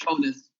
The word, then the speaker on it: Jonas: It's pronounced Jonas. Thank you very much. Say that again. My name is pronounced Jonas. It's in Spanish. Jonas.